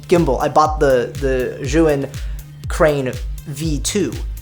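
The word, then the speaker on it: Zhiyun: I later bought the Zhuin, so this is the correct pronunciation for Zhuin.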